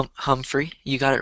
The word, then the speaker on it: Humphrey: Jeff Humphrey, or Jeff, how to pronounce his last name? Humphrey, you got it right.